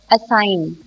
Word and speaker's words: assign: Assign, assign में G is silent.